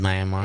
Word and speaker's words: Myanmar: Are you sure it's Myanmar? Yeah, that's how they say it.